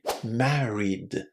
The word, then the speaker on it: married: So the infinitive here is marry and if you attach d to it it's simply married. Married. Notice that this e is not pronounced.